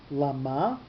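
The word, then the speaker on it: למה: great 12:19 page 1/3 llama with the accent on the second syllable and this one is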